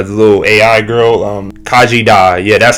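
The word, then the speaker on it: Khaji Da: voiced the uh the little AI girl um Kaji da yeah that's how you pronounce it um that was the alien artifact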